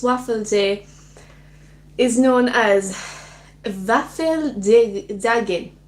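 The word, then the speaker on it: Våffeldagen: In Sweden, this Waffle Day is known as Waffeldagen. Waffeldagen. I think I did a good job with that pronunciation, which sounded a lot like Varfrudagen, which is Our Lady Day, a day that celebrated the Virgin Mary's conception.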